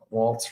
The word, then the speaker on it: waltz: Waltz rhymes with. Not when you say it out loud. No. Walls. Oh yeah, walls. Walls and balls. Yeah, walls and balls. That makes sense. You threw a T in there the first time.